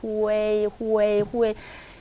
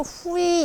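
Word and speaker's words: 会: 후웨이. 회의는 아니에요. 근데 얼핏 들으면 회의처럼도 들리는데 후웨이. 그러니까 어떤 사람은 또 후이 이렇게도 하죠. 후이 이렇게도 하는데 후웨이. 그러니까 회의는 아니에요. 후이도 아니에요. 후웨이를 빨리 하셔야 돼요.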